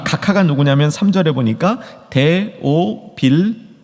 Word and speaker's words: 데오빌로: 이 각하가 누구냐면 3절에 보니까 데오빌로, 발음 잘하셔야 됩니다. 데오빌라가 아닙니다. 데오빌라 그러니까 무슨 빌라집 같죠?